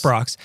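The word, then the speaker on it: Brach's: Brax Brox. She pronounces it like, not like the guy from Space Ghost. So Brox. She pronounces it Brox.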